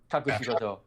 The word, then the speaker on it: Kakushigoto: Kakushikoto. Name of the anime. Kakushikoto? Kakushigoto.